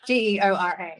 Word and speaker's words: Geora: Did I spell that right? No. Geora.